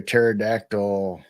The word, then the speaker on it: pterodactyl: go why can't you hear a pterodactyl go to the bathroom I don't know they're actually asking for it the p is silent silent a the